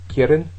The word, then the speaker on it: quieren: And then quieren is back to the first syllable again, that can radically do a radical change.